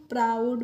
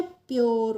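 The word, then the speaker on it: pure: तो पी आर ओ यू डी को हम प्राउड पढ़ेंगे। प्राउड मींस क्या होता है? अभिमानी, गर्व। ऐसे ही पी यू आर है तो इसको हम पूरे नहीं पढ़ते हैं। क्या पढ़ते हैं? प्योर।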